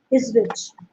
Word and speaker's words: Ipswich: Is how do you pronounce that? Ipswich, Yeah, Ipswich, UK.